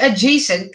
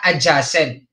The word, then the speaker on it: adjacent: Si adjacent, kasi class, ay nami-mispronounce ng iba na adjacent. Mali yun, class. Ang tamang pronunciation ay adjacent.